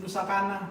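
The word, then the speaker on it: Nusa Caña: I know I'm saying it wrong, but how you say it? Nusa Kana. That what he just said. Say it again. Nusa Kana. That's not how I said it. Nusa Kanya, okay? That's my American accent, all right?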